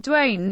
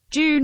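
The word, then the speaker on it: Dwayne: it up man and my name pronounced like Dewayne not June mr. hollow sorry Duane not I apologize okay I'll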